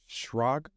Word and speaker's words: Schrag: Got my guy, John Schrag.